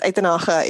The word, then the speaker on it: Uitenhage: It's like if you're speaking English, it's Uitenhage, and then it's Uitenhage if it's Afrikaans.